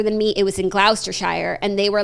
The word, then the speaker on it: Gloucestershire: In his book, he talks about how an older English woman took his virginity in, I'm going to pronounce this wrong, just leave me alone, Gloucestershire. No, Jackie, it's Gloucestershire.